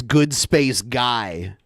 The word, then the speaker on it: Good Space Guy: Oh, I said his name wrong, by the way. It's Good Space Guy.